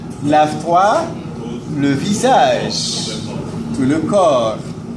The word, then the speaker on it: corps: Ahora, lavate la cara, lave-toi le visage, tout le corps. Sin pronunciar la P al final.